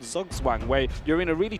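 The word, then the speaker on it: Zugzwang: Ah, is that how you say it? Yes. Ah, I am educated and hopefully many are too. It's German, right?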